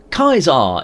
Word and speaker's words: Caesar: Kaisar is, as far as we know, how it is pronounced in Latin.